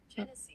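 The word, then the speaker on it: Genasi: Janassi. Janasi. Let me look it up like the pronunciation. Hold on. Cuz it's Hold on. Hold on. Pronunation. I spelled pronunciation wrong. I see. Genese.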